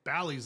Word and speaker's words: Bali: It's like saying, look, Bali's on this list too, but it's Bali or Bali depending on how you pronounce it.